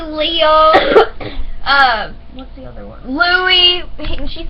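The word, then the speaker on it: Louis: And it's not Lewis, it's Louie.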